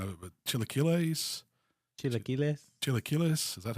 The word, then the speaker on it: chilaquiles: Tyler, you probably help me out because I'm going to murder the pronunciation of it, but chilaquiles?